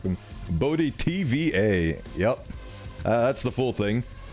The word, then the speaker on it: Bo Di T: I try to make it so it's dissectable by syllables, so you can do Bo, or Bodhi, or Bodhi-T. But oftentimes I hear people call me Bodit.